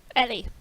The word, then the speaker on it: Ely: Ellie. Ellie, okay. Yeah. It's just how a woman pronounces their name, so I thought it might be different.